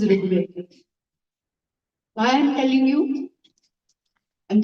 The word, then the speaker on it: Rigveda: They would pronounce it as if it is Ra and then Rukar. They didn't know even that there is a vowel called R, which is Rigveda.